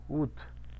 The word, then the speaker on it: août: Ut.